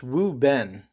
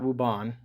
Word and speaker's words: Wuben: pronouncing this name wrong I think it's wuben wuben not wuan I don't know where